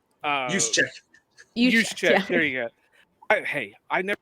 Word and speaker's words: Juszczyk: And I can't pronounce the guy's last name for nothing, but the fullback from San Francisco, Jusek. Juszczyk.